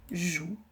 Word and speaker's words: joue: Donc le petit chat joue. Vous voyez ce que je fais? Vous comprenez pourquoi? Le mot joue s'écrit avec J et OU, mais on n'entend pas le E, il est muet.